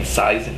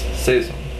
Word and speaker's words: Saison: supposed to be pronounced so you're not saying seizen anymore it's seism you know San not St